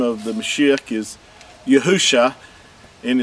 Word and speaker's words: Yahusha: This is the Mashiach's name, Yahusha. This is from left to right. The first three letters are pronounced as Yahu, and the last two letters are Sha.